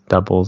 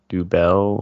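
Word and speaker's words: Dubbel: a tap or something it is just pronounced double and triple like regular but that that's one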